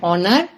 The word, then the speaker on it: honor: nouns for words like honor honest and however we use an because in these words H is silent for example an honest